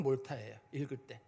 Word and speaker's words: Malta: 몰타가 쓰기로는 MALTA라고 쓰고 MALTA면 우리나라 발음으로 말타라고 발음을 해야 되잖아요. 근데 발음으로는 몰타예요. 읽을 때는 몰타라고 읽어요. 말타라는 발음이 안 나고 읽을 때는 몰타라고 발음이 나거든요.